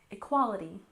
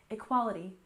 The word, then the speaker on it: equality: next we have equality we stressed the second syllable equality equality and of course this